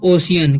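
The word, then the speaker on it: ocean: तो इसे पढ़ते हैं हम ओशियन, क्या पढ़ते हैं? ओशियन, ठीक है। यहाँ पर सी के बाद ई है तो सी का उच्चारण स हो रहा है, ठीक है।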